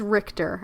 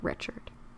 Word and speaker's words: Richter: It is Richter. I think I pronounced it Richard.